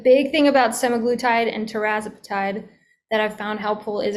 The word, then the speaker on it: tirzepatide: Tirzepatide plus, or tirzepatide, people will say that different ways, but that's how I pronounce it.